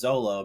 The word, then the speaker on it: Zoro: so it's like the it's like a soft R almost so this is also the reason why the character from One Piece Zoro is sometimes referred to as Zolo because of the English pronunciation of the word so fun fact for